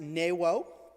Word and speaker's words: Nuo: I know it's spelt Nuo, it's pronounced Newo.